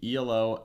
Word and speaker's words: Elo: someone in the chat tell us if it's elo or e-l-o i definitely know it's pronounced e-lo okay um because i've